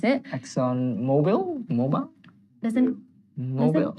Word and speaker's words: Mobil: Mobile? There's an Mobil? E. I think English is weird. Oh, there's no E. Exxon Mobil. Sorry, it's Mobil.